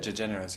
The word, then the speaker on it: DeGeneres: How do you pronounce her even? DeGeneres, yeah.